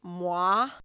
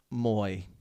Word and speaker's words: moi: I wish Bret really leaned into like the Pennsylvania and was like, you get to go on a date with Moy. It's like, oh, it's pronounced moi.